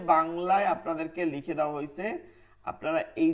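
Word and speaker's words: حاء: বা ওবা ও বাবা এই যে বাংলায় আপনাদেরকে লিখে দেওয়া হয়েছে আপনারা এই যে বাংলা যেটা লিখে দেওয়া হয়েছে এইটা আপনারা পড়বেন।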